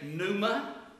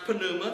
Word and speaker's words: pneuma: spirit is panuma now in english we would drop the p and say numa but in the greek it's pronounced panuma so penuma means wind